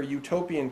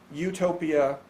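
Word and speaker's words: Eutopia: something like no place however utopia sounds the same as utopia spelled with EU which means beautiful or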